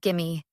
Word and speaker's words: give me: Give me sounds like gimme.